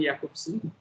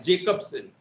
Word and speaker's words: Jakobson: who migrated to america written as jacobson j a k o b s psychoanalysis by any chance jacobson indian pronunciation is jacobsen so how are they